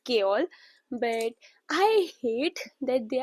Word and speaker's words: Chaol: In the audio book, the narrator is pronouncing it as Kol.